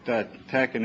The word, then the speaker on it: TeX: is the the the the fact that the e is a little lower in here means that you pronounce it TCH that's my system there